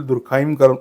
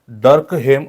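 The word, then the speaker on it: Durkheim: आहे एमिल दुर्खाईम तर त्याचा उच्चार बऱ्याचदा मुलं एमिल दुर्खाईम असं म्हणतात किंवा करतात त्याचा करेक्ट उच्चार हा एमिल डर्क हेम असा आहे काय आहे एमिल डर्क हेम असा होतो एमिल दुर्खाईम असा होत नाही ओके ही वॉज अ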